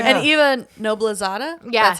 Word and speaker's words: Eva Noblezada: And Eva Noblezada, Yes, that's how you say it.